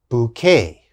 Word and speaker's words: bouquet: called a bouquet bouquet this has a k sound bouquet the next word cabaret